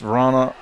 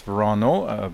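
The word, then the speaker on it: Wranå: Christopher Sundgren, Rasmus Vrana, Oscar Eriksson, Nicholas Edin. It's Verano, but we can talk about the pronunciation shortly.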